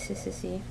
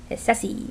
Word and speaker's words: Hississy: So that's why his name is Hississy. And that's just the way I pronounce it. You could call it like Hissessy or he's easy.